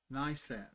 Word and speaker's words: Nisan: And tonight is the first session of, how do you pronounce it? NISAN. That.